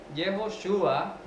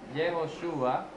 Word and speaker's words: Yehoshua: Y aquí está, vea, Yehoshua, que es como se pronuncia, Yehoshua, este prefijo, este Yeho, está implicando las 3 primeras letras del nombre de Dios.